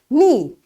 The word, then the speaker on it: knee: when k is silent k is silent when n follows it like after k if you find n you will not say k k will be silent